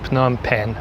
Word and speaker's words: Phnom Penh: salut maintenant je sais ça se prononce phnom penh en ce moment je suis sur le toit